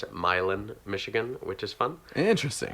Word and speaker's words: Milan: Then there's London, Michigan, which is right next to Milan, Michigan, but they pronounce it Milan, Michigan, which is fun.